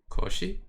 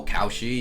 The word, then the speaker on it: Cauchy: I think it's because it looks like the English word um it almost looks like crunchy. That's I think I think that's why people in English kind of find it hard to pronounce it correctly. Oh, sometime also I heard as if it was like some kind of couch. Oh, couchy. Yeah.